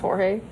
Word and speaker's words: Jorge: I it's the same Jorge is just Spanish for George yes I know but